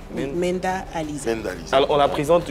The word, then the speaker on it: Mynda Aleeza: l'état civil et mind Lisa d'accord ma c'est Menda Alisa Menda Alisa mend alors on la présente généralement comme la